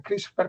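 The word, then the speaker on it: CRISPR: en inglés, cluster regular interferind repeats, que es la palabra Christopher, que para pronunciarla tenemos que incluir la letra E.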